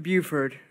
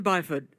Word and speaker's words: Byford: Buford congratulations on yeah yes what by foot sorry not Buford Wow that was the retort to the person